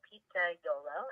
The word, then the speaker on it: Pizzaiolo: the company after the pizza maker itself so pizza dough low is how it's pronounced is the Italian name for pizza maker